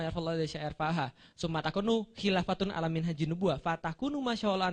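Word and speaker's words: خلافةٌ: Kenapa dibaca khilafatun? Karena isim kana. Oke, setelah kana pasti bacanya domah. Oke, takunu kana. Setelah kana bacanya domah atau rofa. Summa takunu khilafatun. Betul, alamin haji nubuah. Lihat paragraf yang terakhir, summa takunu khilafatan. Kenapa khilafatan? Salah berarti. Kalau setelah kana harusnya rofa.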